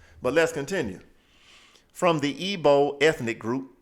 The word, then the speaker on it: Igbo: let's continue from the IBO ethnic group I know it looks like Igbo but it's pronounced IBO right ethnic group of